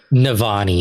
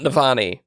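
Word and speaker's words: Navani: not general call no navany it's not nafani clue two this character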